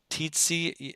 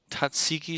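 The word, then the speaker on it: Tzitzi: I get them titties I guess titsy it's called It's pronounced tsiki sauce monster oh yeah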